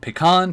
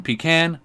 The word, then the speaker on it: pecan: cream is is there's more than one way to pronounce pecan because it depends on where you live I've heard pecan pecan pecan become you're not